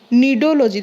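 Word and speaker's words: Cnidology: देख आम 8 नंबर देख निडोलोजी देख स्पेलिंग तार देख सी रु स्टार्ट कि कहला बेलू तार निडोलोजी हम ठीक अच्छे। एंड सी टा साइलेंट हो जगह ठीक अच्छे।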